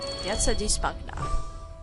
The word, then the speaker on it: Piazza di Spagna: Piazza di Spagna. That's how you pronounce it.